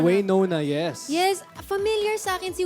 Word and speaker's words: Waynona: Is that how you pronounce? No. Wayona. Waynona.